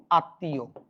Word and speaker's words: আত্মীয়: বাবা এখানে কি লিখছি আত্মীয় আত্মীয় উচ্চারণ কিরকম আপনি দেখেনটা কিন্তু উচ্চারণ হচ্ছে না আত ইউ এখান দেখেন